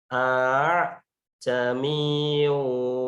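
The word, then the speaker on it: أَعْجَمِيٌّ: Ini tulisannya sebenarnya adalah aa jamiyun, ya. Aa jamiyu wa arabi. Ya, ini aa. Tapi membacanya adalah a jamiyu wa arabi.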